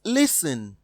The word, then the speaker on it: listen: option a is pronounced listen option b wrestle option c castle option d looks from the options given in option a t is silent b t is silent